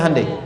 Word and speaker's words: Hyundai: sana bikin Honda sini hundai Hyundai kan dibacanya hundai kan sana Honda sini